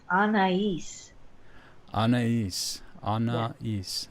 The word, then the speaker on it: Anaiis: we are with a Ania am i pronouncing that correctly well I'm gonna pronounce it for you please it's Anais Anees on east there's three syllables there okay so this is